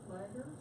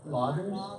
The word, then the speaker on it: Loggers: We're going to Laggers. I always pronounce it wrong. Loggers? Loggers. Loggers, okay.